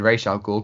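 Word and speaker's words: Ra's al Ghul: and and and ra raz al-ghul ahmad said rachael cool because that's the proper way of pronouncing it christopher nolan um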